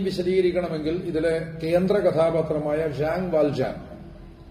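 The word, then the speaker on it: Jean Valjean: ഈ ഭാഗത്ത് ഈ തീം വിശദീകരിക്കണമെങ്കിൽ ഇതിലെ കേന്ദ്ര കഥാപാത്രമായ ഷാങ് വാൽജാൻ, ജീൻ വാൽജീൻ എന്ന് ഇംഗ്ലീഷിൽ എഴുതാറുള്ള, ഒരുപക്ഷെ നമുക്ക് സുപരിചിതമായ ഒരു ഉച്ചാരണം അതാണ്, ഷാങ് വാൽജാൻ കുടുംബം പുലർത്താൻ പെങ്ങളുടെയും കുട്ടിയുടെയും പട്ടിണി മാറ്റുവാൻ വേണ്ടി ഒരു റൊട്ടി മോഷ്ടിച്ചു.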